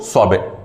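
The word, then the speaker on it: sorbet: टी तक पहुंचोगे बट टी बोलोगे नहीं, सॉर्बेट।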